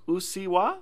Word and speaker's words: うっせぇわ: I was pronouncing it wrong. It's Ussewwa, right? Is that right? Ussewwa.